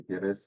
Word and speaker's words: Gutierrez: My name is Gutierrez. My pronunciation is El en Español, and I consider myself to be a Mexican agent of change.